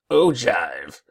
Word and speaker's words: ogive: like me you're probably wondering in the world Oh jive and yes I had to look up how to pronounce the word because I wasn't even sure